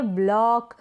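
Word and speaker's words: block: Next है ब्लॉक, ब्लॉक में भी सेम ऐसा ही है।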